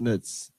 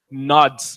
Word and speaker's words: nods: Slightest of nuts. Or the ending was quite. Go. Let's try it again. I pronounce the that was T good, but as R sound, like slightest of nuts. nods.